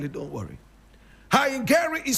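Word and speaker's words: Haingere: The king of the area was known as King Hangari. King Hangari. I will spell it, don't worry. Hangari is spelled H-A-I-N-G-E-R-E.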